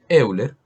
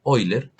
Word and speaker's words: Euler: aclarar que la e es de euler o con una pronunciación menos golpeada oyler en honor pues al